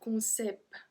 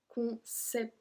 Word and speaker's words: concept: So we're not supposed to pronounce the T, so it will be un concept. But we actually pronounce the T at the end on this one, so un concept.